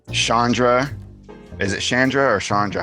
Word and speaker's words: Chandra: Is it Chandra or Chandra? How do you pronounce it?